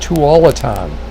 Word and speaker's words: Tualatin: It's pronounced Tualatin.